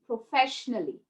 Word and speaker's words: professionally: to pronounce this yeah do you say logically musically professionally no it's a goes silent a goes quiet it knows when to go quiet okay so where does it